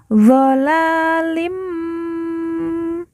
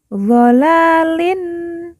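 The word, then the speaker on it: ظالم: dan didengungkan dua harakat doalim bukan dolalin tetapi dibaca doalim mubin Hua Fi doalim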